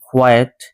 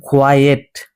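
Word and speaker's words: quiet: এখানে যে শব্দটি আছে কোয়েট এটা কিন্তু কোয়েট নয় উচ্চারণটি ভুল এটা উচ্চারণ হবে কোয়াট আট নট এট হবে আট তো এই উচ্চারণের যে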